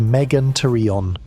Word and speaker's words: Megantereon: Megantereon, pronounced Megantereon.